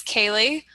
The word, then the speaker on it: Céilidh: Given that my name is Céilidh and it's spelled with all kinds of silent letters and everything, I thought I'd give you a question with some traditional Irish spellings in here.